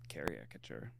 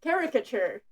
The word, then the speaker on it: caricature: know kind of uh karaature. What the hell was that pronunciation? Kiature. It's caricature. It's caricature. You went to Yale and you don't know it's caricature.